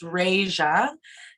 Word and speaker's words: Reisja: Her name is Reija, and it's spelled Reisja.